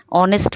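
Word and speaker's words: honest: कर सकते हैं नो ऑनेस्ट में एच साइलेंट है टॉक में एल साइलेंट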